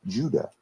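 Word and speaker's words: Ouidah: were sold was called UDA which in old French means Judah Africans living there today pronounce the name of their city in their language as Judah just as the word Judah in English the remains of the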